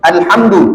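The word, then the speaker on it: الحمد: Alhamd. Alhamdu. Alhamdu. Pakai qalqalah. Alhamd.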